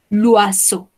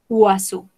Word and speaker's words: oiseau: Tenemos combinación de la letra O, I. O, I. ¿Sí? Esto es, se pronunciaría UA. ¿Sí? UA. UASO. Estas últimas tres letras se pronuncian como una O. Alors, l'oiseau. Oiseau.